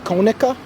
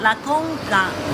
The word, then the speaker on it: La Conca: And then a town that's surrounded by mountains is called Konica. Monica. You said it's Konica? When No, La Conca. La Conca. How do you spell it? C-O-N-C-A. Conca. Yeah.